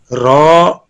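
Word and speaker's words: راء: Raw, pronounced as raw, start by touching the edge of the tongue with the gum of first 3 upper front teeth.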